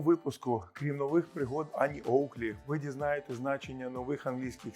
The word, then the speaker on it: Oakley: корінь цього слова оук незважаючи на написання слово ми його вимовляємо оук а не оак що значить дуб Слава